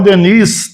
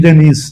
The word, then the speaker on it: Denis: Cultura né como Leon Denis todo mundo muita gente fal Leon Deni o s é mudo Leon Deni tem um s no final mas a gente não diz Denis no plural bom então esses assuntos